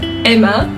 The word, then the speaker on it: Hema: I was gonna go buy a fan today from Hema, or as the French call it, Emma. Like they don't pronounce the H.